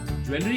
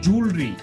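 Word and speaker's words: jewellery: ज्वेलरी गलत है, ज्वेलर्स भी गलत है. सही प्रोनाउंसिएशन उसका क्या है? जूलरी.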